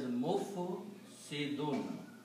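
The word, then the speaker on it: مفسدون: these three letters and pronounce as mufsidun, if we just sound like a dhamma on meem and sukoon and kasra and dal has two dhammas, which is tanween, mufsidun.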